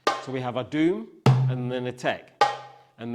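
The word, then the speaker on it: doum: Okay, so our doom is spelled D-O-U-M, and our tek is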